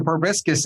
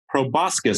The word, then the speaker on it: proboscis: the other ones proboscis or probiscus is growing because he's lying like pinocchio proboscis i think you're right kurt yes i would like to announce that it looks like kurt is right on the pronunciation of proboscis which is odd since